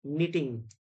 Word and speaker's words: knitting: silent in the this knitting K is silent and T is silent